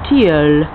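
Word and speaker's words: tilleul: the springtime in france they're known as teal which is doesn't look anything like that when it's spelled i think it's t-i-l-l-e-u-i-l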